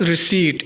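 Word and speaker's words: receipt: पहला लफ्ज है हमारे पास रिसीट। यहां पर पी साइलेंट है।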